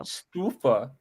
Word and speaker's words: Stouffer: So you see the accent thing over the U? It's not pronounced U. Stuffa.